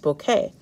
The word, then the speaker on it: bokeh: photos that have the bokeh effect that b o k e h that's pronounced bouquet so i can actually